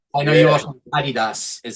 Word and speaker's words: Adidas: You said you like the Adidas. You call it Adidas. But Yeah, that's my I know you yeah, also Adidas is how you say it over there, right?